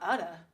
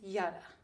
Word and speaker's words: Jetta: Jay is silent in my name. Oh, it is? Is it Yada? Is it Yada? Sorry. That's a very unique name. I love it. It's not Udda. It's Yada.